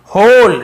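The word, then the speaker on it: whole: भी बोल सकते हैं, होल डब्लू साइलेंट होता है, केवल होल ऐसे पढ़ेंगे लेकिन डब्लू को लिखते हैं, होल स्ट्रेंथ यानी पूरी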